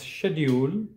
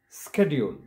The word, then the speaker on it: schedule: envelope the third word it can be pronounced both as schedule as well as schedule it depends on which english you're following if you're following british english it is pronounced as schedule and american english it